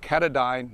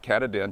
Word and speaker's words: Katadyn: the cadine hiker Pro it's pronounced kadine not katadin just to clarify that